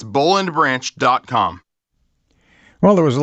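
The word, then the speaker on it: Boll & Branch: at Boleyn branch calm that's spelled Bo LL and branch calm and save 25% again 25% off right now at Bo LL and branch calm that's bull and branch calm well there was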